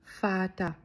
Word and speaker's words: Vater: Picture a very fine father in a tuxedo, and remember the German father starts with the F sound. Vater.